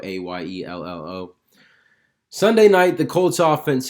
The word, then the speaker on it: Ayello: It's by Jim Ayello. That's how it's said, Ayello, Ayello.